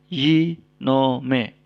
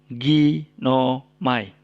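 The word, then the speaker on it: γίνομαι: Jadi kata ini dibaca yinome, bukan ginomai. Ya, bukan ginomai, tapi yinome.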